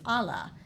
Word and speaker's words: Ala: Park superintendent, and she confirmed that the correct pronunciation is Allah, and it is from the Latin word meaning wing. That makes sense. When looking at the narrow sandy spit, I can see how the word Allah could describe the shape of the sandy finger